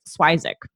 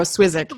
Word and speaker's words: Swyszcz: Basically, we've been telling everybody we made up, or his Baba, his grandmother made up a pronunciation Swyszcz. So even though I guess phonetically looking at it, you wouldn't get that, but I would go Swyszcz.